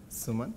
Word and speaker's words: Suman: Suman. Suman, how do you spell that?